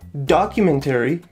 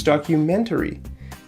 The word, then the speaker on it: documentary: is over here right it's not documentary it's documentary if you say documentary people will understand you but it's not going to sound natural okay so let's look at